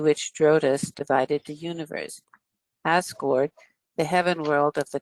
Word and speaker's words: Asgård: Guard is pronounced gourd, more like a gourd, you know. And Heim is not Heim, it's Heim. So it's in this case Asgård and Nifla Heim, right?